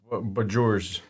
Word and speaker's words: bourgeois: I would just go confidently and say Borgios. Borgio. I don't know. I really don't know. I've been through this before. It's Bourgeois. And it's a meat market